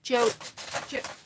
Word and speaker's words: Joey: Joey. I always get confused. I want to pronounce it Jody, but it's not because there's no D in there.